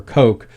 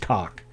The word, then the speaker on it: Koch: There was a guy, and we pronounce Koch, either Koch or Coke, but it should be pronounced internationally. It's pronounced cock, but because it's not, there was a Harry Koch.